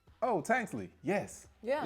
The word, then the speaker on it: Tanksley: And for some reason, people have a hard time pronouncing Tanksley. I don't know why they want to put an ER. I think it's easier to say Tankersley.